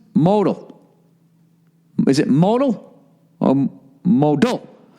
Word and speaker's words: Modal: points during your read note modal is pronounced modal modal this underwear is as